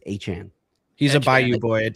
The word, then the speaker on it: Etienne: He literally he said that the the way you're supposed to pronounce his name is is Achan.